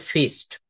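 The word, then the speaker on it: feast: আমরা বলি না আমাদের একটা ফিশ করতে হবে। ফিশ না এটা উচ্চারণ করতে হবে ফিস্ট।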